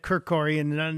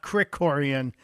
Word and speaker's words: Krikorian: mispronouncing as a guy who gets his name mispronounced all the time I'm embarrassed I said kiroran not Crick Coran I will uh my mother's mother my mother's